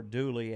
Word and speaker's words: Dula: They popularized it, and the story of Tom Dula, or Dooley as the locals pronounced it.